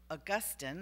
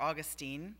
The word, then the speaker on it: Augustine: African church father named Augustine or Augustine depending on whether you're Catholic or Protestant you pronounce it differently um he is the